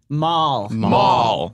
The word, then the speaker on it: Mal: But that's not how they say it. Maul.